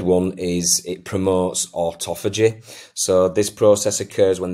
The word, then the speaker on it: autophagy: aging and increase longevity now that is a tricky word but I've uh made sure before I did this video that that is how you say it um autophagy uh so if you